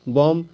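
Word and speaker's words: bomb: बी डम तो दोस्तों इसमें जो बी है इसका उच्चारण मैं नहीं कर रहा हूं मैं क्या बोल रहा हूं बी ओ एम बी बम सीओ एम बी कॉम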